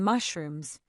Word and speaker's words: mushrooms: Next up, our lovely mushrooms and tomatoes. Notice the sh sound in mushrooms like champagne.